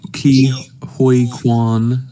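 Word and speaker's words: Ke Huy Quan: uh but yeah um key hike key Hoy Quan I believe is how you pronounce his name uh one best supporting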